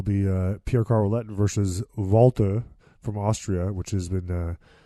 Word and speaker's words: Walter: those popular wrestlers on the internet so it's pronounced Volta yeah he's not Walter it's Walter but vault